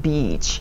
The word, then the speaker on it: beach: Bitch and beach. 자, 여러분, 해변가 말씀하시고 싶으시다면 길게 발음해 주셔야 돼요. EE나 EA는 길게. 장음, beach.